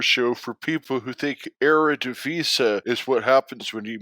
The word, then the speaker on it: Eredivisie: And the reason that we bring up the Eredivisie or the Eredivisie is, I believe, actually the correct pronunciation.